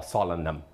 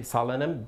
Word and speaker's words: solanum: So, cái quả chua, the classification of a tomato is actually the solanum or solanum. Depends on your pronunciation. Alright, so we just say solanum based on American English.